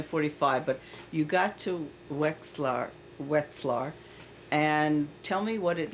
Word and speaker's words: Wetzlar: Now a lot of people still were in a few camps, but we went to Wetzlar. Is Wetxlar?